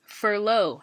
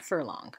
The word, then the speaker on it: furlough: called firm long pause the pronunciation of the word is furlough not for long which is what happens